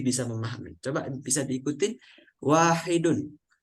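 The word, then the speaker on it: واحد: Arabnya kalau yang bentuk muzakarnya atau laki-lakiakarnya maka bacanya wahidun kalau muanasnya bacanya wahidatun nah perhatikan ada ta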